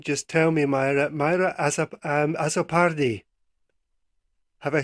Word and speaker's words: Azzopardi: If I get your name wrong, just tell me, Myra. Myra Azzopardi.